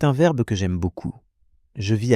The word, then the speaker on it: vis: Beaucoup d'apprenants confondent je vis avec je vais. Ce sont deux sons très proches.